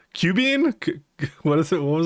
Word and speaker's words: cumene: Cubine? What is it? What was it again? What was it? Cumene.